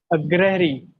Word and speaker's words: अग्रहरी: Agrahari. Again? Agrahari. What is wrong in that? This is the right pronunciation, right? No. What is then? Tell me. अग्रहरी. अच्छा, अग्रहरी. Oh, अग्रहरी.